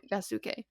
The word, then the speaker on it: Yasuke: But when he was in Japan and he lived in Japan, it changed it to more of a Japanese pronunciation name Okay. and a Sure. name, so Yasuke.